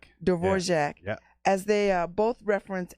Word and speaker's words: Dvorak: Her works are compared to, how do you say this, Dvorak? Dvorak.